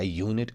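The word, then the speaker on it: unit: और consonant sound की तो यहां पे जो असल में ये यू का इस्तेमाल हुआ है यू की यहां पे ये अपनी साउंड नहीं आई है ये असल में वाई की साउंड आई है यह की साउंड जो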